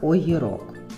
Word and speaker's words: огірок: Огірок. Огірок. Наголос буде на о.